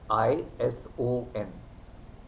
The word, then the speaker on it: maison: S is pronounced as sir, but if it comes in between two vowels, like the word maison, house, MAISON, maison, the sound is Z.